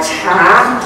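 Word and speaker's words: 茶: chino en el mundo ustedes saben cómo se pronuncia t en chino mandarin muy bien ch muy bien cha no cha se pronuncia cha cha y hasta hoy en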